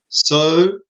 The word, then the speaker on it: Szoboszlai: Name is Szoboszlai. You have to pronounce it. Szoboszlai. Szoboszlai. Cool. Szoboszlai. Not an I at the end. Not an I at the end. Big up, guys. Szoboszlai. Szoboszlai. Cool. Fine. There's no I.